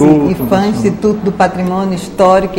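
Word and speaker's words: IPHAN: da cultura n é essa sigla IP h a n é né pronunciando-se e fã Instituto do patrimônio histórico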